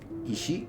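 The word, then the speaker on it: 石: Isi ishi stone or that's for kyomi ishi and then onomi is saki uh shaku or koku.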